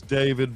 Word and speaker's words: D4VD: His name is David, but it's spelled weird with like a 4 in it somewhere.